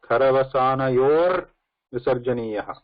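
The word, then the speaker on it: खरवसानयोर्विसर्जनीयः: So this one you can pronounce it like this: Karavasana yor visarjaniyaha.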